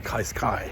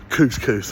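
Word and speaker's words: Cascais: It was like 18 degrees in Kaiskai, which is, I've been told, the correct way to pronounce it, not couscous or whatever the hell I was saying.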